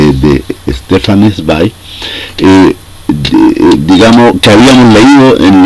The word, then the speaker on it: Stefan: nombrado en algunas ocasiones corrigieron tamb los amigos alemanes porque yo pronunciaba Stefan y en realidad eh Me dicen que la manera correcta de hacerlo es Stefan bueno esta vez vamos